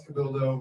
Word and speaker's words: Cabildo: Tomas Cabildo rhymes with dildo.